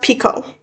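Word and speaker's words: Picoult: Picu. How to pronounce that name, too. Okay, it's pronounced Pico.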